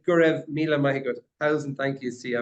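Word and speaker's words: Go raibh míle maith agat: So in Irish, we'd say Gurev Mila Mahigod.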